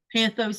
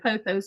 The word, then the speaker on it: Pothos: Mess up names all the time, like Panthos instead of Pothos, or however it's spelled.